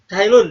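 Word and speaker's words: Cai Lun: Cailun dibacanya ya, Cailun.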